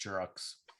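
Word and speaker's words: Giroux: lost Giroud free agency so it's pronounced jurox Xerox so they might take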